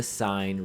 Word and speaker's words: sine: we abbreviate it SIN, so it's not going to be pronounced sin, okay? We're not in church, we don't use sins here in math. Instead, we pronounce that as sine.